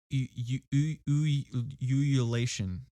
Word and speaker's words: ululation: Then the head tilted back, and from that demon throat came the most shocking ululation. Ululation. That is how you pronounce it.